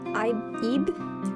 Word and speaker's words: Ib: In the early afternoon, under a gray sky, Ibe? I think it's pronounced Ebe, like Eve.